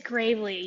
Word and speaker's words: Gravlee: We welcome to the program Gravlee. Did I pronounce it correct? Is it Gravlee or Gravely? It is Gravely. You pronounced it perfectly.